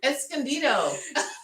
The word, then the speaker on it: Escondido: pronounce that escandio esclca it's in california somewhere escondido oh okay that's how you pronounce it yeah yeah yeah i know where